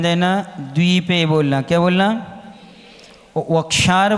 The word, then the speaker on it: वक्षार: द्वीपे बोलना, क्या बोलना, वक्षार बोलना, बक्षार नहीं बोलना। क्या बोलना, बा और वा में बहुत अंतर है।